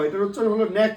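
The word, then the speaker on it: knack: এখানে একটু ব্যতিক্রম হলো কে এর উচ্চারণটা হবে না।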